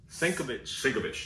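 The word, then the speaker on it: Sienkiewicz: uh 150 i'm sorry so yeah this is going to be signed by bill uh senko shikovich that's how you say it yeah and thanks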